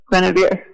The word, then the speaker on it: Guenevere: If you forget my name as Guenevere, you can just say, give me a beer, because it rhymes with Guenevere.